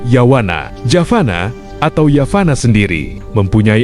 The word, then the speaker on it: Yavana: Dan pelafalan untuk yavana biasanya kita sebut sebagai yawana.